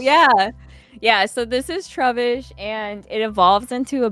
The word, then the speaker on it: Trubbish: bag Pokemon and his his name is trubbish like rubbish trash but yeah oh that too yeah yeah so this is troubish and it evolves into